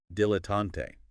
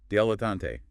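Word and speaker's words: dilettante: Dilotante. Three syllables, stress on the first, maybe datante or the last. Datante. It can vary a bit, but often dialante.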